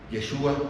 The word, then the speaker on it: Yeshua: Ahora bien, Jesús identifica su nombre humano, Yeshua, como se pronuncia en hebreo, o Yehoshua en arameo, y básicamente Josué, como debería decir, lo que significa Jehová es salvación.